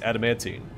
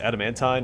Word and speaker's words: adamantine: Judging by the materials and yielding hardness, this is the sky metal known as adamantine. However, I've also heard it pronounced adamantine. I've already said adamantine, but I guess either works.